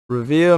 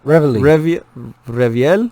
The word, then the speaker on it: Reveille: Reveal mascot. Come on, reveal is Reveille.